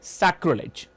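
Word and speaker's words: sacrilege: जी हां, प्रोनाउंसिएशन है सैक्रिलेज, right.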